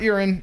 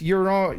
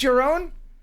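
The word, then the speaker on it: Jeroen: next to each other his name is your your urine or urine not urine it's your own you're a je Greg you're a man of the world how do you say je r OE n Jeron is that right your own okay Jerome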